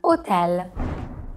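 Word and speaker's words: hotel: AA is always silent so we never pronounce it like we do in English even in foreign words like otel I really want to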